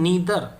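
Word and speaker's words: neither: का मतलब स्थिति, कैन नीदर, ये स्टूडेंट नीदर है, कोई कोई इसको नाइदर बोल देता है, इंडिया में नाइदर भी चल जाता है, बट इसका जो सही प्रोनाउंसिएशन है वो नीदर है।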